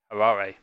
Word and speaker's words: Harare: Which I think I'm pronouncing right, but I can be corrected. I've written it, so Harare.